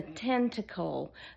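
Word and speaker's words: Tenikle: It's called a tentacle, but it's not spelled like an octopus's tentacle.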